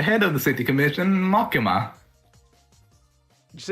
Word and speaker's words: Makima: The I is like the I sounds like E. Makim. Makima. Yeah. Makim. Makima.